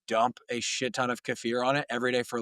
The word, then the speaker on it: kefir: I believe it is properly pronounced kefir, and I think I sound more educated and cooler, so we're gonna roll with that being the proper pronunciation. I feel like kefir's like the American version, but kefir, kefir, whatever